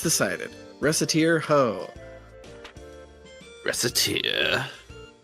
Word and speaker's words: Recettear: So I put Recette and Tyr together, and Recettear.